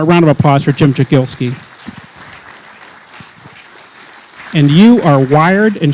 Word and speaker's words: Jagielski: I've had two people pronounce. One said Jagielski and one said Jagielski. Do you have a preference for that? It is Jagielski.